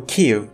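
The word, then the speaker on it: Kyiv: care approximately in 878 Kiev or Q by Ukrainian pronunciation was a very important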